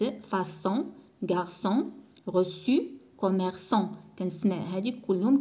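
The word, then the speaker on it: garçon: غارسون كنسمع لو سون س.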